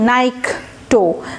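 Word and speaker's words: nycto: নাইকটোফোবিয়া, এরপরে দেখেন NYC, নাইকটো, তাহলে কিন্তু নিকটো বলবেন না, উচ্চারণটা আমি চেক করেছি, এটা নাইকটো, হ্যাঁ, NYC, নাইক, NYC হচ্ছে একটা রুট পেলাম।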